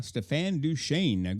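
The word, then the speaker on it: Stéphane Deschênes: of naturism from Canada Stefan duain good morning Stefan how are you today did I do okay on the semi French pronunciation of your name you did very well yes very well thank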